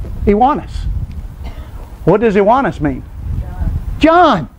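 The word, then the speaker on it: Ioannes: This word is spelled, I-O-A-N-N-E-S. And it's Iwanis. Iwanis.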